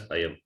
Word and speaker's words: अयम्: See, this Makara is, with Makara you read it, you read the word as Ayam. With Anuswara also you read the word as Ayam only. Pronunciation, there is no difference.